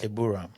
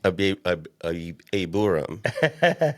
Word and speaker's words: Aburam: How to say it again? Abram. Abram. Yeah. But the proper way is Aburam. Aburam.